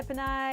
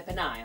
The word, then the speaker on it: Pinay: But instead, they would say Freska, the Pinay, because they'd have to break it up phonetically, because they would say Pinay. And I'd be like, ugh, my ears would bleed, it's not Pinay.